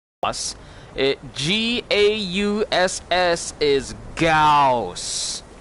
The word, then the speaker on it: Gauss: his name is not Goths regardless of how many times miss Ford call us it GA USS is gauss gauss like johann strauss gauss you don't pronounce